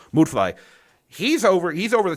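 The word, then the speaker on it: Müdfly: Blair would fly mood fly yeah that's how you say his name mood fly he's over he's over the top cartoonish too he has this jealousy of dr.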